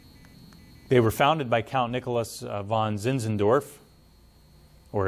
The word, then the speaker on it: Nicolaus: were founded by count nicholas von zinzendorf or his uh i guess the proper pronunciation would be nicolaus right russ would that